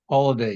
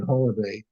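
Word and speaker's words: Holladay: no they later bought a oh home in Holiday Utah that's spelled h o l l a d a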